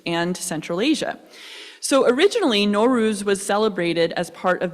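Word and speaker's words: Nowruz: norus pronounce so yeah pronounce norus let's try that repeat after me norus gorgeous so norus literally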